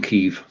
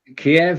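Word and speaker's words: Kyiv: as well and it's kiev kiev is the russian pronunciation is the ukrainian pronunciation eve do you know who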